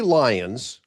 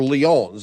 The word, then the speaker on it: Lyons: Today's guest, Andy Lions or Leons, it depends on if you're French or not, how you pronounce her name, is a fellow senior citizen and we're both proud.